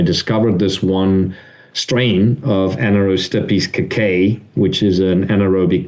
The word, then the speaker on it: Anaerostipes: So, the the one that we already have out out is called Anaerostipes. So, it's spelled like Anaerobe, a n a e r o s t i p e s, Anaerostipes.